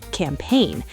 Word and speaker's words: campaign: Sign, design, foreign, campaign. The G is silent. So sign is just sign and design is design and foreign is for in Wait, I definitely pronounce foreign wrong. Then I've been saying for a lot of people do the correct pronunciation is foreign. Two syllables and that G is completely silent.